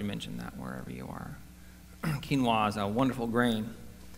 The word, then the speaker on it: quinoa: Quinoa is a wonderful grain. Looks like it should be pronounced quinoa, but it's nonetheless pronounced quinoa,